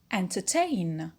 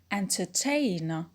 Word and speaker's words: entertain: Number 1, the stress-carrying suffix ein, like entertain, entertain.